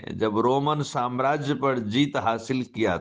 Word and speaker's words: राम: जैसे कि भारत में ही हम लोग राम को राम बोलते हैं, लेकिन दक्षिण में उन्हीं राम को रमन रामन ऐसे बोलते हैं। बंगाल में वही रामो हो जाते हैं, उनको रामो बोला जाता है।